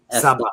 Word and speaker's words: Saba: And how do you pronounce her last name? I always screw it up. I think it's Saba. Saba. Okay. Yeah. Saba.